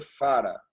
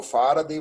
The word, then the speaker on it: farad: F maiúsculo quer dizer Farad. O D é mudo, tá? É uma homenagem a Michael Faraday, mas eles acharam o nome muito comprido.